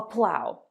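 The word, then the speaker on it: plough: This is a plow. Of course, in day-to-day English, this word isn't very common unless you're a farmer. But the phrasal verb plow through is very useful. O-U-G-H, O-U-G-H, but two different pronunciations.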